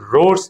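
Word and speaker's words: Rhodes: రొడీషియా అనే ఒక దేశం కూడా ఉండేది, రోడ్స్. కాబట్టి హెచ్ వచ్చినప్పుడు ఆర్ అనేది ఒత్తి పలుకుతుంది, రోడ్స్ అంటారు.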